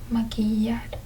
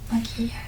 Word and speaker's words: maquillar: Now sometimes you will hear with different accents, usually Uruguayan or Argentinian accents. They will pronounce this as a sh sound. But in Latin America and Spain, they usually pronounce this, most of Latin America, right? And Spain, they will pronounce this as a Y sound.